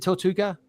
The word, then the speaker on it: Tortuga: Adventure in Tortuga for sure. Is that how you say it, guys? Is it Tortuga? Yeah, that's right.